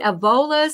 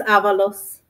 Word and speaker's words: Avalos: Herbert Buckley and is it aola I want to make sure I'm pronouncing your name correctly it's Avalos Avalos okay I do apologize